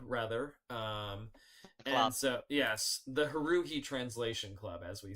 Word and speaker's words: Haruhi: And so, yes, the Haruhi Translation Club, as we say.